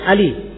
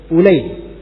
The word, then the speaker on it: Ulay: Biasanya kalau ain lam ya itu lisan kita akan membaca Ali. Tapi ini khusus nama ini bukan Ali bacanya, dibaca Ulay.